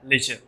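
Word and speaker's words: lecher: फिर लेचर, क्या है लेचर। यहाँ पे र का जो साउंड है वो थोड़ा सा आपको कम प्रोनाउंस करना है, कम बोलना है, लेचर, ठीक है।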